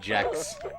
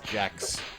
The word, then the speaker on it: Gex: The creator said he wanted it to be pronounced Jex. Yeah. I know he's a gecko, but that's too on the nose. His name is Jex.